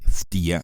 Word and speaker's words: Ftia: la segunda de piro Sí ese nombre es ftia se escribe F t i a el padre de